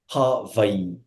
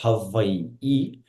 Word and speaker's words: Hawaii: And just for the audience, it's always 3 syllables. Hawaii. That's how you properly say it, Hawaii.